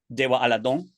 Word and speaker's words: Tewaaraton: And you know, I would say "Deywá:ahladonh" which is Tewaaraton, is how it's spelled in English. Tewaaraton if you were to read it out.